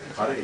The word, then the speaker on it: Hare: It's neither is it a rolled R like an Italian R. Hare. But it's also not hare.